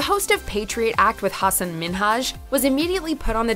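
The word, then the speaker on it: Hasan Minhaj: seconds into the interview Hassan Minaj yes no really well my name is Hassan minhaj oh she pronounced it as Hassan Minaj rather than Hassan minhaj prompting him to correct her not only that she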